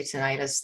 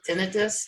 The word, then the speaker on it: tinnitus: I say tinnitus, a lot of Canadians do. You said tinnitus. Yeah, that's one of those words that it's evolved, and I've heard it five different pronunciations, so they're all correct.